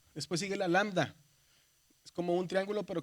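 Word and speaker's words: λάμβδα: Es una lambda. Y es, acuérdese, ¿cómo se cómo se pronuncia? Como L, ¿verdad? Lambda.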